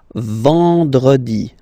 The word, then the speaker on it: vendredi: Then, E-N, nasal, and it's en. En. So remember, vendredi.